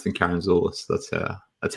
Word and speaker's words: Karantzoulis: so uh the k is easier easier to pronounce than karen zulus that's uh that's how you actually pronounce it